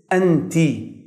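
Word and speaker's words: أنتَ: The difference between male and female is the final vowel sound at the end of the word. In male, it is ended with فتحة. أنت. In female, it is ended in كسرة.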